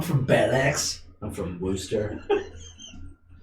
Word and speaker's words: Worcester: I'm from Worcester. It's actually pronounced Worcester, believe it or not.